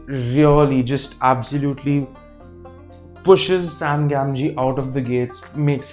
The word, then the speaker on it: Gamgee: frodo's friends sam gamgee i've written it from here but that's how it's pronounced sam gamji is my absolute favorite character